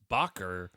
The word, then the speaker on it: Rickenbacker: and Bacher guitars right even the pronunciation is weird because it's Bacher but it's spelled backer yes so then after